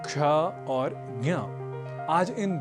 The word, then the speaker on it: क्ष: की दृष्टि से विशेष पहला संयुक्ताक्षर है क्ष जो बना है क और ष के योग से क और